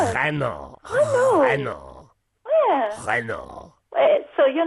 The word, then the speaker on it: Renault: Reno. Reno. Renault. So you're not more Renault. But I say it better than the congestion cuz they they pronounce the T. They say Renault. Renold.